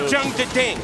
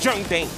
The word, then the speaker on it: Jeondding: It's not Jeondding, it's Jeondding. There's two Ds, but it's a silent one.